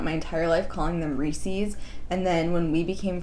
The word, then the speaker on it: Reese's: Reese's Pieces, and like it's supposed to rhyme with the word pieces, and for some reason my brain was just like, nah, it's Pieces.